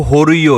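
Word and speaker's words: Jorullo: यह जो होइयो है इसकी स्पेलिंग जो है जे ओ आर U double L ओ है। लेकिन इसकी जो प्रोनंसिएशन है वो होरियो है।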